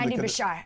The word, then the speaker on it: Beshear: How do you pronounce his surname? Andy Beshear. Beshear, yep.